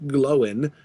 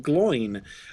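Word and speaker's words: Glóin: over the first letter in a two-letter combination, like glowin, for instance, with the accent over the O, it's the accent is there in order to tell you to break that up into two syllables, like that it's supposed to be two different sounds. So, the accent is over the O in glowin to prevent you from saying gloin, or worse, his father groin.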